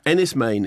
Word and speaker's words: Enys Men: because when you say four you mean 77 Ennis Maine is the new film by Mark Jenkin who might spell that okay so it's spelled Ennis men so